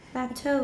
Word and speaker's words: plateau: Plateau. 为什么没有 tap? Very good. The second syllable stress, plateau.